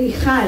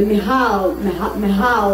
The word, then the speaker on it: Michal: Costa Rica because it's the only place in which I can pronounce the ch, and people can actually say Michal instead of the Mihal, all the kind of versions I hear.